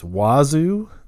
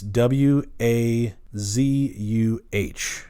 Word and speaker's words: Wazuh: Um, some other cool stuff to check out is Wazu. It's uh I know it's a weird name, but it's w a zuh. Wazu, I think it's how you say it.